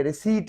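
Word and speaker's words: receipt: सबसे ज्यादा जो मोस्ट कॉमन मिस प्रोनाउंस किया वाला वर्ड है तो वो यहाँ पे ये रिसीट है, जिसको लोग रिसिप्ट कहते हैं। प्लीज इसको रिसिप्ट ना कहें, उर्दू में इसको कहते हैं रसीद, लेकिन इसका इंग्लिश वर्ड है रिसीट।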